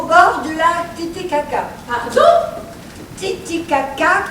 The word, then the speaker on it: Titicaca: Titicaca, comme ça se prononce.